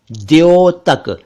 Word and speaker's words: द्योतक: एक शब्द है द्योतक इसे कई क लोग तक या धो तक कहते हैं जबकि यह है द्योतक द्योतक इसका मतलब है सूचक